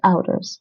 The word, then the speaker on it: ouders: De ouders. De ouders. De ouders. This is pronounced like owl, like the vowel in owl. Owl. De ouders.